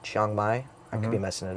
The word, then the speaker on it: Chiang Mai: then we went to uh I believe it's pronounced Chiang Mai.